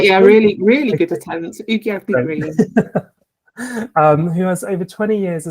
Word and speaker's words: Iwi Ugiagbe-Green: I'm going to have to ask your name, pronunciation for the surname, if that's the case. It's Iwi Ugiagbe-Green. Have I said that's right? Yeah, really good attempt. Ugiagbe-Green.